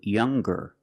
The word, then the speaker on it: younger: When we change these adjectives with er or with est, we're going to pronounce the g sound, the hard g. So it's younger, ger, with a g sound.